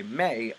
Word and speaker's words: me: And by Mei, I'm pronouncing it the way Mesopotamians did, and it's actually spelled M-E.